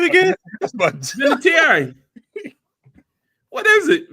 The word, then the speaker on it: Vinatieri: So you add extra syllable in there. What's his name again? Vinatieri. What is it? Vinatieri.